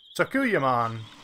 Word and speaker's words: Sakuyamon: Also, I learned how to pronounce that between this and the last episode. Sakuyamon.